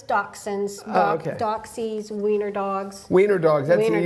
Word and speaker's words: Dachshund: the first two uh Dash people obviously pronounce that incorrectly do sometimes it's doxin do doxies weener dogs